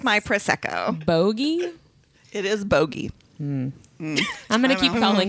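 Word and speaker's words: Bogge: I called it a bogey which bothered me because it sounds like a booger and spoiler alert you're right no I don't want it to be a it is bogey according to the court of thorns and Roses Wiki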